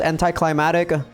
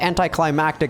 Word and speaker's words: anticlimactic: who worded anticlimactic as anti-climatic but it seems like anticlimactic is actually the correct pronunciation but yeah I guess